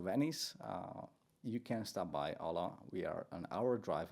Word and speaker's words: OLLO: I think I was saying OLLO, but you sort of pronounce it as OLLO. Is that how? Yeah, just OLLO.